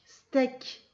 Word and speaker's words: steak: Ces deux lettres ensemble, là, ça fait est. Donc ça fait ek, steak.